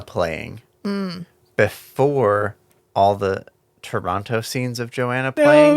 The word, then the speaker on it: Toronto: showed it to us it's Toronto you don't say the second t sure sure it's fine